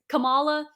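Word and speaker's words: Kamala: Which for me, if I was Camala, yeah, I said it right.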